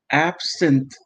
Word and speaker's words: absinthe: Now, thank you to the Umbrella Archive, because he says it's pronounced absinthe.